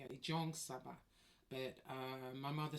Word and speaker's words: Jong Saba: and when when he when he pronounced my name it sounded like he was saying John Saba but he wasn't he was actually saying Jong Saba so it should be